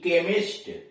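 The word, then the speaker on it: chemist: यानी देख रहे हैं कि नियम तो यह है कि उस शब्द के शुरू में सी एच आए, उसके बाद कोई स्वर आए तो उसका उच्चारण च होता है। लेकिन ये अपवाद हो गए, कमेलियन हुआ, के आस हुआ, कैरेक्टर हुआ, कारिज्मेटिक हुआ और करिश्मा हुआ, केमिस्ट हुआ, ये सब उसके अपवाद हैं।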